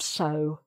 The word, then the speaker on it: sew: So it's not that, but it's the same pronunciation.